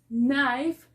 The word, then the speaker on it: knife: letra m si entonces vamos a mirar tenemos knife que significa cuchillo tenemos know que significa saber